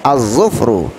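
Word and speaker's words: الظفر: Oleh karena itu cara membacanya tidak boleh dibaca alif lamnya dengan jelas. Jadi kita langsung kepada huruf zod, ya.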